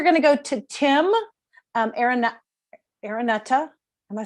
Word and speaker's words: Araneta: Okay, so next we're going to go to Tim Araneta. Am I saying it right? Suddenly I've got am I saying it right? Yes, I am. I know I'm saying it right. I think. Araneta, right.